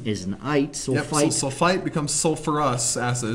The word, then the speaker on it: sulfurous: Knight so sulfite becomes sulfurous acid it's not sulfous acid we put the ER back in there from sulfur sulfurous sulfurus sulfurous wow I've